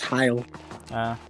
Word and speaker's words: Heil: Well, it's literally pronounced heil.